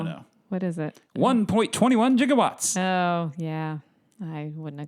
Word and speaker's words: gigawatts: can see Christopher L he pronounces it jigawatts in the movie yeah you give up is it like 98 I don't know no what is it 1.21 gigawatts oh yeah I wouldn't